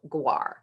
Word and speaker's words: GWAR: is a course called GWAR. GWAR stands for Graduate Writing Assessment Requirement, and I like to think that it rhymes with RAR because it can be a little bit of an animal.